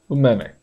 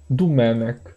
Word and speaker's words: Domènec: Domenech.